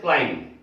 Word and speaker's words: climb: क्लाइंब, चढ़ना, ऊपर चढ़ना, तो उसको लोग बोलते हैं CLIMB, क्लाइंब, लेकिन इसमें भी बी साइलेंट है, बी साइलेंट है, इसको बोलते हैं क्लाइंब, क्लाइंब।